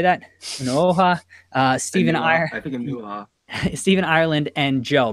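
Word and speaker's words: Onuoha: Unuoha, Stephen Stephen Ireland, and Joe.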